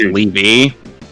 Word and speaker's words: Levy: Well, in the show, it's pronounced Levy. L-E-V-Y.